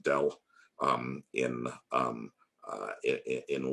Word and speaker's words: del: people hav't seen it we pronounce it Dell um in um uh